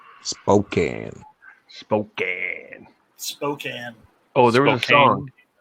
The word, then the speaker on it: Spokane: It's pronounced Spokane. Spokane.